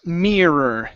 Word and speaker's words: mirror: R mirror oh almost mirror give me a good R there Mirror Mirror Mirror